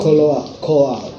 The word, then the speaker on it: Kolot: Kolot. Enggak, ini dibacanya kolot. Oh iya. Plesetan aja. Ini plesetan kolot.